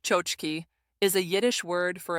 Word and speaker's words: tchotchke: A tchotchke, pronounced chochki, is a Yiddish word for a small, cheap, decorative trinket.